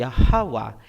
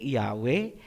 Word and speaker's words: Yahawa: Ang pangalan ng Ama ay Yahawa. Hindi Yahwe, hindi Jehova, hindi Ahaya, hindi Yahova at lalong hindi Jesus Christ.